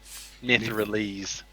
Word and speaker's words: Netherese: Netherese.